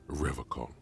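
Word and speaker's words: Revachol: He pronounces Revocol with a hard K, unlike other people. You said Revocol. I like to pronounce it the hard way. The old way. The Vespertine way.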